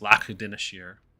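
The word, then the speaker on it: Lac Dinneshere: Pronunciation isn't really a thing. But yes, Lac Dineshire, because we're gonna make it proper.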